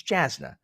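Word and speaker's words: Jasnah: Just like if I say Jasna, who cares? Who cares? There's no pronunciation guide to the front of that book. It's Jasna.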